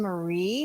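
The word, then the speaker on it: Meagher: I'm sorry Mar spelled m e a g h e r but pronounced Mar sounds like Chinese actually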